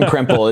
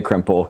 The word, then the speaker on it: Krempell: Because I'm I told you I'm horrible at at pronouncing these pronuncating these things. It's fine, man. It's It's Crimple. It's The K's get you. It's Crumple. with a K. Crimple.